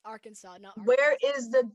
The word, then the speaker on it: Arkansas: play the google pronunciation to prove that it's pronounced arkansas where is the w in our kansas where is it it's arkansas this is why i hate english ameri in